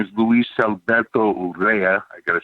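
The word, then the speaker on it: Luis Alberto Urrea: my best friend growing up his name is Luis Alberto Rea I gotta say it like that he's a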